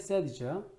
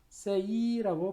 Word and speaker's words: said: say, said, said죠. said라고 있습니다. say라고 발음하지 않습니다.